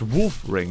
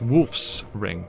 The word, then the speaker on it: Wolf Ring: It's wolf ring, not wolf's ring.